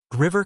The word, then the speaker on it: river: The main difference isn't actually the but the vowel that comes before it. River comes from the base word. Short vowel e. Diver comes from the verb dive with a long vowel i.